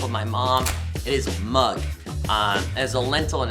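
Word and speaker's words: moong: my mom it is mug um as a lentil and it's how you pronounced m o o n g mug not not the mug that you see like M Yugi I this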